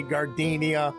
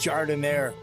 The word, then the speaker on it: gardenia: register looking at me don't look all nervous and say gardenia it's pronounced jardin air this is michael roberts